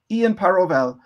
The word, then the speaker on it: Ian Parovel: today we are discussing board game arena with ian parovel am i pronouncing your name correctly yes that's totally perfect